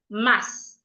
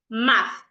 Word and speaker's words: math: The first word I have here, an average person will pronounce it as mass. Some people would even say mats.